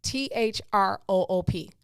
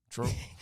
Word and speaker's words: Throop: How do you pronounce that? THRO. And Troop. Why do the newscasters call it Throop? Have you ever heard a newscaster say, on Throop Street? I'm like, I thought it was Troop, but okay.